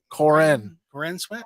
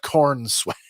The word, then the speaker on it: Corenswet: Corin Sweat? Not corn sweat.